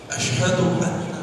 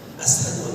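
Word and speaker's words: أشهد أن: صحیح تلفظ نہیں آتا، وہ شین کو سین کہا کرتے ہیں۔ جب اشہد ان کہنا ہوتا تو وہ اشہد ان نہیں کہہ پاتے تھے، اسہد ان کہتے تھے، شین نہیں کہہ پاتے۔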